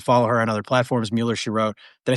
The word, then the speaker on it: Mueller She Wrote: Mueller she wrote. Did I say it right this time? Finally. Merro.